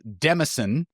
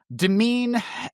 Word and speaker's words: demesne: probably read it as Demenses. Uh, and that's also incorrect. Yes, the S is silent. Thank you, English. So, demean has almost the same pronunciation and almost the same meaning as the word domain as in like see